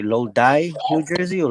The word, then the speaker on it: Lodi: And then other place that I've gone to some sessions in how do you say Lodi, New Jersey, or Loden? Loda, yeah.